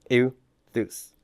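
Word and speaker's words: εὐθύς: eus eus eus okay remember D thongs form how many vowel sounds one so even though you see three vowel letters this is only two vowel sounds eus uthus okay great now uh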